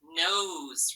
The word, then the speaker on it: nose: this word um z nose right we have the long vowel but that s between those two vowels sometimes sounds like z like a z sound almost right but we spell it with an s so it's a